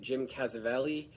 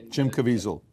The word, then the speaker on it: Jim Caviezel: think they had the i'm gonna say his name wrong but like jim cassavelli you know the guy who played uh jesus in town jim caviezel jim caviezel yeah he was there talking you